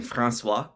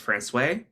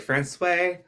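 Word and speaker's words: François: Because a lot of you are probably saying Francois, and in fact, that is the incorrect pronunciation, because in Newfoundland, a lot of French town names slowly became anglicized.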